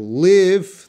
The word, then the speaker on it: live: to leave her sorry so this short I and long I sound if you look at my mouth because pronunciation is always a physical problem so the first word leave you can see II II my lips are coming part here leave leave and live there's not much movement here live live live